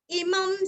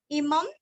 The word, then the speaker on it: इमं: इमं स्तवं भगवतो विष्णोर्व्यासेन कीर्तितं, पठेद्य इच्छेत् पुरुषः श्रेयः प्राप्तुं सुखानि च। इमं अनुस्वार का उच्चारण आधा म, स्तवम अनुस्वार का उच्चारण